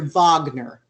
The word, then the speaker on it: Wagner: now about the German opera and the composer vogner it spelled WAG NER but it's pronounced for the VAE that's the way German